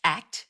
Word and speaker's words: ACT: And the overarching aim of acceptance and commitment therapy, which is pronounced ACT as an acronym, is psychological flexibility.